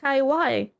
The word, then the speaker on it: Kaiwai: like kaiw even though a lot of people mispronounce it as tenshi kawaii but it's it's meant to be kaiw um yeah and you